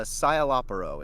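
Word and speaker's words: Szayelaporro: Ask him if he remembers voicing Sizalo Aporo in Bleach. I don't know how that's pronounced. That was very close. It's a Scialopero is how they say it.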